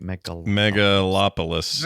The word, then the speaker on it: Megalopolis: I still haven't seen Megalopolis. Is that am I saying it right? Megalopolis. Yeah, that's it.